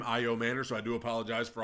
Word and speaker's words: Asamoah: Offensively, I mean, I'm very excited about Caleb Asamoah which y'all told me is the correct pronunciation of his last name, Asamoah.